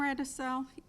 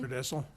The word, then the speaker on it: Redessel: Okay, Radisell, am I pronouncing his name correctly? Redessel? Yeah. Redessel, and the township have